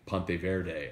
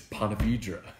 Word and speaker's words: Ponte Vedra: But he's going to Ponte Vedra, and Terrio kept saying Ponte Verde. I'm like, no, it's Ponte Vedra. It's like it's where they have the TPC, the 17th Island Green. It's Ponte Vedra.